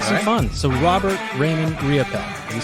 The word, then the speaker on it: Riopel: So Robert Raymond Riopel.